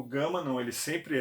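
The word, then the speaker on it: gamma: Ok Vita a Gama o som Gama é um som gutural ele começa de bem leve mas é cultural grama grama é obviamente ele não é tão no na conversa de área um pouco mais suave mas você tem a palavra por exemplo gata gata gato é esse só nunca o som de girafa gelo então o nosso jeito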